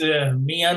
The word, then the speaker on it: Mian: My name is Mian, and I'll spell it for you.